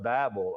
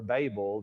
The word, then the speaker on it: Babel: lot would be the Tower of Babel, or Babel, depending on how you want to pronounce it.